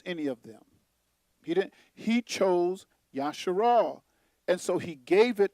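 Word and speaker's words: ישראל: They like to say Israel. You know, he changed his name from Jacob to Israel, pronounced Yasharal.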